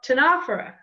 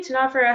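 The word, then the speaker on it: Ctenophora: It's got a silent C. It's called Tenophora. Tenophora, right? Starts with a T. Just like pterodactyl has a silent P, Tenophora has a silent C, and the T makes the first sound, right?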